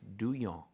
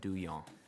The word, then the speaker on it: Duhon: I say Duhon because my dad says Duhon, but his parents said Duyon. So Duyon.